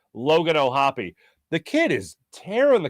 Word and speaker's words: O'Hoppe: One, I wanted to make sure I knew how to pronounce his name. Logan O'Hoppe.